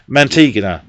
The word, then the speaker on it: Mantegna: Joe, how do we say you pronounce it? Joe Mantegna.